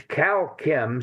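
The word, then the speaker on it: Kalchem: get in touch with Cal Kim if they if they feel inclined to do so. It's calm spelled with a K. K A L C H E M as in chemical.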